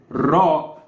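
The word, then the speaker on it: ر: no surprising lits here ra is not exactly the English R because this is the rolled R this isn't R this is R we actually don't have R we always pronounce ra like like this except for me well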